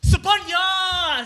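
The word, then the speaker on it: Sophanya: my ex, Sapeh, SOPHY, my name is pronounced Sapanya! Sounds so audibly resembles my name.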